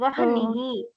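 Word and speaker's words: वह्नि: By teeth and lips, we should pronounce va. Then h, sound. Then nihi, Oh, vahnihi, vahni.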